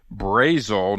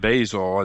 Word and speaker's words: Basil: a little different, but their head coach is named Brian Basil, not Basil. Is that correct? Yeah, Brian Basil.